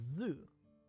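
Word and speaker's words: ぞ: This is Zo. Zo. Alright, so is normal. Yep. Zo. No, I didn't need you to pronounce it again.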